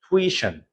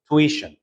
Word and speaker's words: tuition: this word yes t one yes we should pronounce tuition instead of tweet right so repeat after me tuition perfect so remember that if you have this